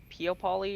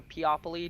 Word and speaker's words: Peopoly: actually started out with the pio poly or piapoli depending on how you say it we started out